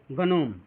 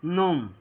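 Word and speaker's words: gnome: देखिए जब ये रूल कह रहा है कि जब जी के तुरंत बाद एन आ जाए तो जी जो होता है वो साइलेंट हो जाता है।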